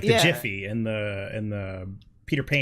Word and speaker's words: Jif: sugar, where like the Jiffy and the Peter Pan. It's pronounced Giffy.